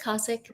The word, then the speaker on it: Kosik: It's Kosik. Kosik. If you pronounce Okay, it, I'll still love you.